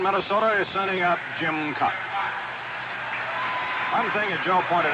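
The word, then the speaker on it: Kaat: His last name is spelled K-A-A-T. Pronounced Cut.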